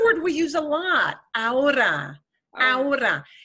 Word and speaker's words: ahora: And because we spell it with an H, with an H. Yes. Want to pronounce that. Because your brain in English is telling you, say this, and this is like this H problem of pronouncing the H is a problem that probably 80% of people who speak Spanish have this issue.